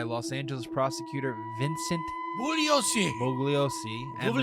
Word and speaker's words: Bugliosi: Bugliosi and the Bugliosi. media. The G is silent.